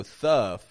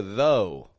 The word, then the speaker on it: though: h o u g we don't go thff but we go though oh God totally different